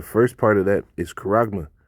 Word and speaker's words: charagma: But the first part of that is charagma, right?